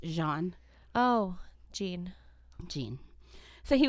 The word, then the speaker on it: Jean: Leaf FR spelled g e a an but pronounced Jean oh Jean Jean so he was this 31-year-old